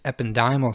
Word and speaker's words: ependymal: So, astrocytes, microglia, ependymal, sometimes pronounced ependymal cells, TANYCYTES, and oligodendrocytes.